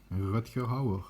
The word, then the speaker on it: Rutger Hauer: Rutger Hauer, as we say in the Netherlands, to pronounce it in the Dutch way.